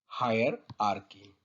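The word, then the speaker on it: hierarchy: वैसे तो ये बिजनेस से रिलेटेड टर्म है, और इसकी प्रोनाउंसिएशन क्या है? हायर आर्की।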